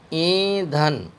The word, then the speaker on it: ایندھن: نون زبر دھن، ایندھن۔ اس کو ہم نے اگر نون کو ساکن بولا تو تلفظ میں گڑبڑی ہوگی۔ صحیح طریقہ اس کا ہے الف یا زیر ای نون غنہ دھے نون زبر دھن، ایندھن۔ ایندھن غنہ ہے، اس میں غنہ کی آواز آئے گی اور آخر میں نون